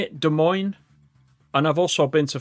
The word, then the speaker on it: Des Moines: Des Moines, is that how you say it? Des Moines.